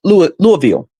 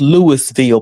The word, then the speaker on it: Louisville: We was coming from uh we was in uh Louisville. It's pronounced it's it looked like it's Louisville, but they say Louisville, so we're going to say Louisville.